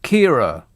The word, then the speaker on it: Ciara: This says that the storm is pronounced Kira.